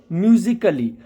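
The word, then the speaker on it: musically: वह नहीं बोलना है जैसे म्यूजिकली के के बाद ए तो काली नहीं कली बोलना है म्यूजिकली ऐसा एक बहुत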